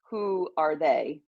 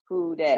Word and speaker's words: Houdet: And it's a play on words of who are they? Houdet. Yeah, exactly. So that's honestly how I tell people to pronounce my name.